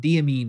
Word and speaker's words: Diamine: of diamine was, and it's diamine, not diamine or diamine. So diamine. Yay.